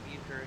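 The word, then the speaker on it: Uecker: that how you say his name yeah Bob uker yeah he passed away today the famous uh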